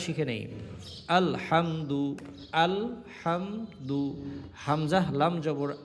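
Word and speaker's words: الحمد: আলহামদু আল হামদু হামজা লাম জবর আল হা মিম জবর হাম আলহাম দাল পেশ দু আলহামদু হা বর্ণটা চিকন উচ্চারিত হবে হাফ কঠ কন্ঠ মাঝখান থেকে উচ্চারিত হবে আলহামদু আলহামদু আলহামদু লিল্লাহি লিল্লাহ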